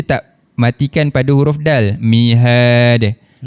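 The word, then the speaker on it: مهادا: Cara bacaannya dal baris atas da dan dibaca dengan kadar dua harakat. Jadi mihada cuba mihada. Betul. Kita tak jelaskan tanwinnya. Kita tak baca mihaan.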